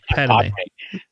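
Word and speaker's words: Padmé: No, we were yelling at you to finally just pronounce Padme correctly. No, Padme. Pame.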